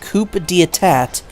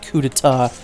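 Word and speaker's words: coup d'état: Coup d'etat, but I thought that it was pronounced Coup d'etat. So that took me way longer than it should have to realize that it's actually pronounced Coup d'etat.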